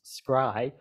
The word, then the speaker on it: scri: I indicates infinity and it's generally pronounced Sky minus for past null Infinity scribe plus future null Infinity that's very standard